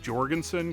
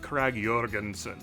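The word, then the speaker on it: Krag–Jørgensen: to just sound American lots of Americans just say the J with a J so Craig Jorgenson it's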